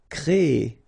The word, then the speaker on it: créer: So it's quite interesting, sorry, here, because first you will have this CRE accent aigu, so you get the créer sound, and after that you get this ER sound, so E.